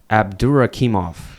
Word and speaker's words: Abdurakhimov: How do you pronounce his name? Abdurakhimov.